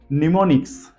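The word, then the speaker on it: mnemonics: है स्मृति या शक्ति निमोनिक्स निमोनिक्स का स्पेलिंग देखिए एम एन E ammo M आई सी एस निमोनिक्स इसमें भी हमने एम को पढ़ा नहीं है देन निमोनिक एंड नीमो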